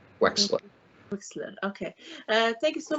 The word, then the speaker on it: Wechsler: It's pronounced like there's an X in the middle of it. Wechsler.